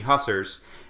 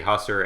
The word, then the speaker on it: hussar: But at this point, the French have arrived, and they're now shooting guns at the hussars, and I should make sure I'm saying that